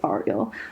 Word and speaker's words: Ariel: It's gonna be Ariel, and it's spelled Ariel. like Okay. Ariel, but in Hebrew it's pronounced Ariel.